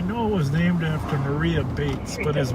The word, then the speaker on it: Maria: Whether it's, I think it would be, it's always Maria, right? Because it's spelled Maria, but it's always been pronounced Mariah.